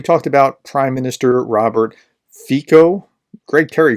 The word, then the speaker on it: Fico: So we talked about Prime Minister Robert Fico. Greg Terry called it FICO. I called it Fico. We were both wrong. It's actually Fico or Fica or something along those lines.